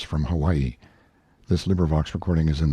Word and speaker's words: Hawaii: on my Noble Steed Hawaii pronounced Hawaii stress on second syllable a beast that cost